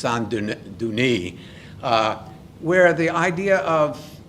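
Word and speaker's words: Saint-Denis: cathedrals in France uh I would pronounce it's St Dennis but I believe in French it's sanun duni uh where the idea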